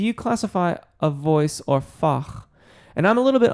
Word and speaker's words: Fach: be like Bach or should it be Fache I've always heard Fache before because my voice might